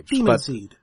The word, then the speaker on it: Daemonseed: If we're going by the standard, A before E it's just a long E. Like demon, it's still demon. Okay. Daemonseed.